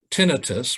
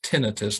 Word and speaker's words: tinnitus: symptom complex exclusively includes tinnitus. By the way, the proper pronunciation is tinnitus, not tinnitus.